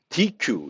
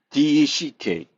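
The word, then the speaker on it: deque: 영어로 되어 있기 때문에 dq 이렇게 발행할 수 있는데 그렇게 발음하지 않고 실제 발음은 Deck 덱 이렇게 발음하게 됩니다 근데 영어로 쓸 때는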